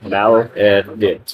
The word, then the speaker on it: Maledicts: Pronunciation. Maledicts.